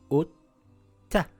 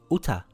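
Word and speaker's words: أُتَّ: أُتَّThis is the same as this أتْ تَIt reads Utta, Utta, not uta, utaa. Pronouncing both taas.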